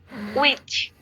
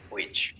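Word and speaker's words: which: যেমন আমরা যেটাকে হুইচ বলতাম, এটাকে নেটিভরা বলে উইচ, মানে এইচ উচ্চারণ করে না।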